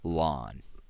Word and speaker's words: ln: a natural logarithm that's abbreviated Ln and pronounced lwn so here is the